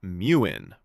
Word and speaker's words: Muin: A Tesla employee posted a video showing off this upcoming in-car Grok companion called Muin, pronounced like moon, And the Tesla community absolutely lost their minds.